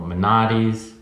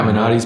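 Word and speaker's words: Menotti's: and the world of manatis am I pronouncing it right yeah mantis Pilates Bugattis and then uh and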